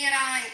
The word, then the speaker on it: Iran: Say Iran. Iran.